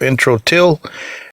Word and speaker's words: Introtyl: is the bassist of intro till intro till in case you guys are wondering it's spelled I and TR o Tuyl like an intro intro till they got